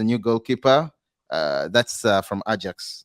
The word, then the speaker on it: Ajax: goalkeeper uh that's from Ajax or Ajax as some of you prefer to pronounce the name I think yeah that's